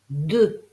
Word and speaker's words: deux: veut dire un seul deux d e u X e U pour former le son e attention on n'oublie pas de mettre le X en lettre finale même s'il ne se prononce pas c'est pour ça que